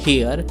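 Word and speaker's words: here: वैसे कई लोग, ज़्यादातर लोग इसे हेयर पढ़ते हैं, हेयर, लेकिन इसका प्रोनाउंसिएशन ज़्यादातर होता है, जो नेटिव स्पीकर्स बोलते हैं वो हियर बोलते हैं, हियर, और हियर ही को बोल बोल के हेयर बना दिया जाता है।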